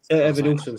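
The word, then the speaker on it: Evanilson: Evan Nilson, sorry.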